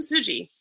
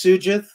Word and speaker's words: Sugith: um campaign so welcome fuji uh hello can i can i just correct the pronunciation of my name it's it's tsujith and names are very